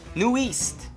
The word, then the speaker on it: NU'EST: New East. New East. We actually looked up how to pronounce their name because, yeah.